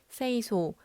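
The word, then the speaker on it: 清掃: 5S는 일본어로 정리, 정돈, 청소, 청결, 습관화를 발음했을 때 정리는 세이리, 정돈은 세이톤, 청소는 세이소, 청결은 세이케츠, 습관화는 시치케라고 합니다.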